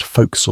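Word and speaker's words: forecastle: The four castle, pronounced folks by everyone who wants you to know they're proper sailors, occupies the forward section of the ship below deck.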